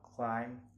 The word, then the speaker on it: climb: Next, it is always silent when following the letter M. Only the sound of the consonant M is pronounced, and if B also comes before the consonant T. Example: aplomb, climb, dumb, plumber, depth, and doubt.